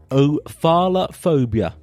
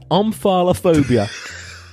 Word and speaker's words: omphalophobia: What is ophalophobia? Actually, I think I've said that wrong. Yeah. Is omphalophobia.